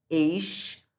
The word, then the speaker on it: exclusivo: Aqui eu pronuncio exclusivo. Aqui não tem como XC ter só som de C. Tem som de exclusivo. Aqui são dois fonemas, tá bom?